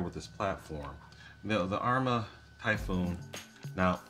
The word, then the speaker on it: Typhon: Now, I've heard people say it two different ways. I've heard it pronounced Typhoon, and I've heard it pronounced Typhon. I know it's spelled like Typhon, but I can't bring myself to use that in general conversation. So I'm calling it a Typhoon until somebody corrects me.